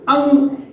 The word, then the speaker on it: अं: So, ang, what we pronounce ang, A-N-G, ang. Just take care of my pronunciation.